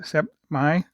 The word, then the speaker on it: Sept Mai: I pronounce it Sept Mai 41 millimeter watch.